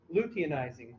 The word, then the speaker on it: luteinizing: FSH stands for follicle stimulating hormone, and LH stands for luteinizing hormone. Weird pronunciation, luteinizing hormone.